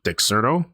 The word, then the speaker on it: Dexerto: All right, according to his website from Dexerto, that's how you say it, Dexerto.